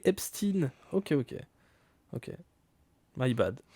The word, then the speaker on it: Epstein: L'affaire epine non, il faut le prononcer en américain en fait les noms anglais. En anglais. Epstin.